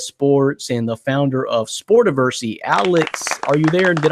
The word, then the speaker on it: Sportiversity: You know him from CBS Sports, former writer of CBS Sports, and the founder of Sportiversity. Alex, are you there? Did I pronounce the website right?